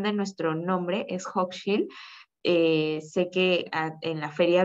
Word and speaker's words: Hochschild: Sobre Hochschild, sí me gustaría igual como aprovechar la oportunidad para comentarles la pronunciación de nuestro nombre, es Hochschild. Sé que en la feria virtual sale como Hochschild, pero es justamente por el desarrollo de la